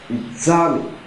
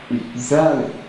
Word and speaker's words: examine: that word is pronounced examine examine so if it is pronounced examine what's our stress the stress therefore is on the second syllable e e e z